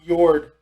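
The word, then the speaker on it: Jörð: yeah uh which one it's like yours it's pronounced jord yeah the y yard was yord was the birth mother in nordic lore as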